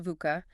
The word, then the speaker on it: VUCA: Yeah, VUCA, it's pronounced VUCA, and it stands for volatile, uncertain, complicated, and